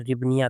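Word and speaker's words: hryvnia: हिबनिया। हिबनिया या फिर रिबनिया भी बोला जाता है। इंग्लिश में आप लोग देख लेंगे एच इसमें साइलेंट होता है। तो ये रिबनिया कहा जाता है रिबनिया।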